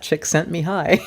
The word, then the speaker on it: Csikszentmihalyi: well that's how you you can't spell it but you can know how to pronounce it chick that chick Mihai yeah you know or